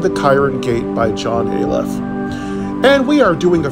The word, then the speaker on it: Ayliff: is john j o h in last name aleph a y l i f f and the